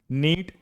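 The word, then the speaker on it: knit: एन हो तो के का उच्चारण हम नहीं करते। देखिए कुछ और एग्जांपल्स देख लीजिए। नीट के एन आई टी नीड बुनना।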